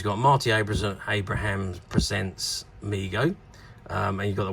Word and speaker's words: Mego: these figures in response to overwhelming demand Migo pronounced Migo Corp was started by his father D David